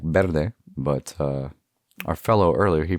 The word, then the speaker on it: verde: Usually when I see a V, it's pronounced like a B, like verde, but our fellow earlier, he pronounced it verde.